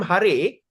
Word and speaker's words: Hare: So Hari became Hare because of the vocative vocabulary pronunciation when the word combined.